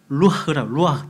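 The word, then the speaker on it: רוח: 히브리어로 영은 루아흐.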